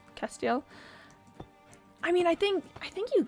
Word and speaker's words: Castiel: It's called Castiel, basically pronounced Castiel.